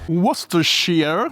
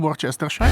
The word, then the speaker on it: Worcestershire: Io in questo caso aggiungo un po' di flavor magnifico con la salsa Worcestershire, che tutti sapete che si pronuncia così, non Worcestershire.